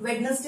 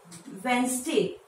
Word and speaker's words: Wednesday: लेकिन इसका pronunciation right नहीं है। इसका राइट प्रोनाउंसिएशन है वेंसडे। वेंसडे इस वर्ड में जो डी है ये साइलेंट होता है, तो डी को हम प्रोनाउंस नहीं करेंगे, बोलेंगे वेंसडे।